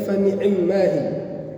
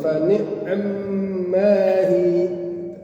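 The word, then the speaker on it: فَنِعِمَّا هِيَ: Kita bacanya fa ni'mahi dalam riwayat Imam Hafiz. Tapi dalam riwayat lain ada yang bacanya Imam Syu'bah fa ni'mahi. Jadi ainnya itu sukun, mimnya tasydid. Dua jadinya fa ni'mahi.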